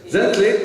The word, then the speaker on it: Zintle: right but it is spelled z-i-n-t-l-e but it's pronounced gently tell us a little bit about yourself welcome